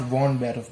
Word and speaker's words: von Beruf: It is von Beruf and not von Beruf, because in German V is pronounced as F. So it's von Beruf.